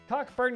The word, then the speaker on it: Cockburn: Cockburn Gateway. The CK is silent.